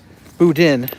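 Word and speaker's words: boudin: And they'd have crawfish in them or or uh or just the budan sausage. Budin, not Budan.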